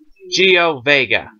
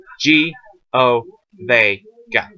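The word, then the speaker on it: Ggio Vega: Geo Vega. Now his last name is in reference, spelling and pronunciation wise, at least Las Vegas, if that helps you. So, G O Vega.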